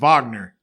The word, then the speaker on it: Wagner: you say it different it's wagner wagner wagner yeah because he's german the w is like a v all right so wagner